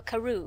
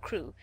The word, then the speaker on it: Crewe: difference in the name madame pascal pronounced it as if it were karoo instead of crew but that might be